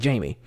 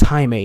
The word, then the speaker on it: Jaime: would be different because if you see how it's spelled you would naturally think oh it's probably Jaime but it's the fact that that's not what happened he's just he's just saying his name is Jaime and she's going Jamie